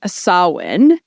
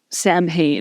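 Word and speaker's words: Samhain: so in Halloween during sawin uh it's hard to say sawin I know because it's spelled Sam Hae yeah and like that's how some people say it Sam ha um so during a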